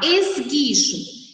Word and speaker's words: esguicho: Primeira palavra, esguicho. Esgui, gui. Não sai o som da vogal U.